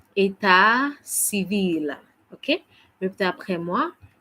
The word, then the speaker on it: état civil: Marital status in French, we say état civil. Okay. Répétez après moi. État civil. Encore. État civil. Bravo. On essaie de prononcer état civil.